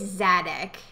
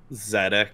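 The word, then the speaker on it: Szadek: I think it's Zadek. Zadek. Yeah, I think the S is silent.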